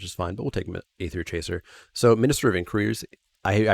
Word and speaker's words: Aether Chaser: How did I mispronounce? Aether Chaser. I said what? Aether Cheeser? Aether Cheeser.